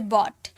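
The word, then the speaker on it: bought: अब यहाँ पर GH को कई सारे वर्ड में साइलेंट भी होते हैं, जैसे बॉट तो इसे बॉट बोलते हैं, इस GH का साउंड आया, इसे बॉट, बॉट।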